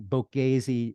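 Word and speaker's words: Boğaziçi: University um Bosphorus Unity I think Bazi uh University is the Turkish pronunciation of of of the of the name the flagship University essentially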